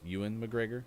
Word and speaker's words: Ewan McGregor: more even mcgregor news which is ewan mcgregor i think is how you actually say his name uh he is going